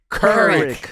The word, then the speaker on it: Couric: It's Couric. like cur. Couric.